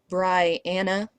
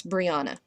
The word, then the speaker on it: Briana: na not n and her name is not Bri Anna not Bri it's Briana the other way to